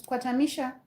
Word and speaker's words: Kwatamisha: It is Kwatamisha.